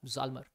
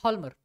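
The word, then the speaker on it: Hjalmar: Economist को higher किया, जाल्मर या हॉल्मर, इसका सही प्रोनाउंसिएशन है हॉल्मर।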